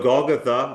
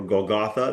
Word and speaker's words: Golgotha: Um so Golgtha or Goltha, there's there's a lot of pronunciations of of the place and of the hill and of the moment and of the chapter.